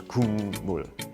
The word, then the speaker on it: 국물: In that word, you have a K in 받침 position, in syllable final position, and it's followed by an M. And in that situation, then the K changes to eng, so it becomes 국물.